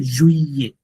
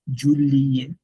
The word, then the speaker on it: juillet: এরপর আবার ছয়টা চলে যায়, পরের ছয়টাতে ওই যে ডাবল এল থাকলে আগে পরে যদি ভাওয়েল থাকে, ভিল বাদে, ভিল, ভিলা, এই যে রুটটা, এই রুটটা বাদে বাকি সবার সময় ডাবল এল উচ্চারণ হবে না। তো এটা হয়ে যাবে জুইয়ে, জুইয়ে, জুইয়ে, নট জুলিয়ে, জুইয়ে, জুইয়ে, উত, উত,